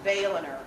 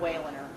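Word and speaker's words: Wehlener: The W is pronounced V. So it's Veltliner, not Wailener. Veltliner, Sonnenor.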